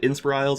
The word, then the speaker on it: Inspirisles: Is it Inspirisles, Inspirisles, Yeah, the first one, Inspirisles. It's meant to Inspirisles? sort of, be one word off the tongue.